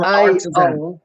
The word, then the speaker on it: Artixan: And it's spelled ARTIXAN.